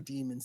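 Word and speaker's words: daemons: how do you say is it demons or demons d a e m o n it's demons even if it's da AE e it's still demon yeah yeah they call it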